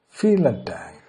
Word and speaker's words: vielen Dank: Now it's pronounced vielen Dank.